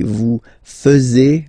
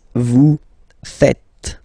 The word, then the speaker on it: faites: And it's quite funny because many French people tend to make the mistake and tend to say vous faisiez, okay? But then no. It's vous faites. Vous faites. Okay? So remember, final S here is not pronounced, and then this is not pronounced either. So faites, faites. Vous faites.